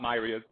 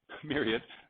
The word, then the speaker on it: myriad: means vast amounts and it's pronounced Myriad not myad Myriad the Myriad creatures I